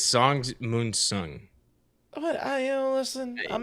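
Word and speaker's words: Sung-mun Song: JR says Song Sun Mun. Am I doing it? Did I say it wrong? I think it's Song Moon Sung.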